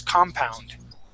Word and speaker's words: compound: would said compound okay this accent is at the beginning of the word the word is compound compound okay now the